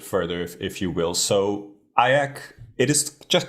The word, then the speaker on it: IACC: um the association is fondly known as aak the only word that rhymes with kayak I've been told so